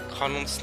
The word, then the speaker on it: kanon: But I will say, in Norwegian, Kanon's name means cannon, or at least that's how you spell it in Norwegian.